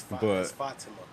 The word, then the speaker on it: Fatima: crushing me in the comments about saying her name wrong. It's Fatima.